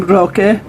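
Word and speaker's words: Roque: his Mexican friends called him by his name Rock but anybody who couldn't pronounce it uh they actually just call him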